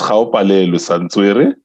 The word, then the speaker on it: Gaopalelwe Santswere: So it's Gaopalelwe Santswere. Instead of saying Ga, it's Gaopalelwe. So yeah.